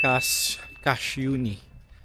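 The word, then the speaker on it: Kašjuni: Cash uni casi. So parang spelling niya is casuni pero I think it's spell pronouns as cash uni kasi yung s nila parang sh.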